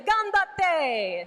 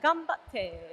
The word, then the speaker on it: ganbatte: We could say ganbatte, which means I'll say that go. wrong. I'm gonna say you just say it like that. Ganbatte.